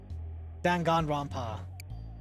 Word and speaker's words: Danganronpa: You say all the A's the same as the last one. Danganronpa. Okay, so that is how you say it.